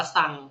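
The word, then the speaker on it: 三: เลย นะ อย่าง เช่น ภาษา ญี่ปุ่น อ่าน ว่า ซัง ก็ คล้าย ๆ คำ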